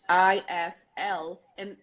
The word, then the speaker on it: island: I'm talking about so this is pretty much is L and I learned so much in school when I